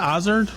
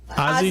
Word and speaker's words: Azor: How do you say that? Ozard? Azor, yes. Azor. Okay. Azor, but Ozzy? Ozzy is fine.